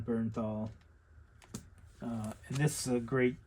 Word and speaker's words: Bernthal: I think the last video I didn't say his name right, but John Bernthal.